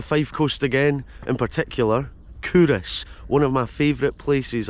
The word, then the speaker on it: Culross: taking in the morning here for a second pronounced curus has been a royal bur since 1588 this